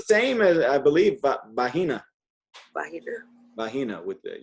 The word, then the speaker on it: vagina: Vagina? Vagina with the, you pronounce the G as an H, vagina.